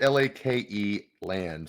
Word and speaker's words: Lakeland: and unfortunately I think examples like Lakeland or maybe it's laand Bridges um well it's spelled yeah it's spelled l a ke land so Lakeland Lakeland y uh yeah